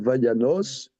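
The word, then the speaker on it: וַיָּנָס: En vérité, Vayanos, Vayanos, ça se prononce Vayanos.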